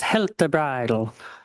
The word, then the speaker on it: Heltebridal: And Juliet's last name is pronounced Heltebridal. Am I right?